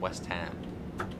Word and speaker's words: West Ham: Peveny and West Ham, not Western.